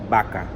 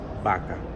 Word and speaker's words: vaca: The word cow in Spanish, a very popular one, is vaca with a V. But a lot of people pronounce it vaca, not vaca. Which is the correct form? Vaca.